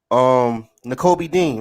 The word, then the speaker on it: Nakobe Dean: I would love on what's his name, Naomi Nakobe Dean, the linebacker, From Nakobe Dean, right? That's how you say his name.